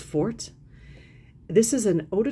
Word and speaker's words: Forte: There's no accent on the E, so I'm thinking it's just Forte.